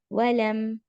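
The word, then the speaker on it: وَلَمْ: पूरे सर्कल करने हैं वलम वलम और लम यहां पर भी मीम साकिन के बाद या है तो इजहार हम क्लियर मीम को प्रोनाउंस करेंगे वलम यू लद अब यू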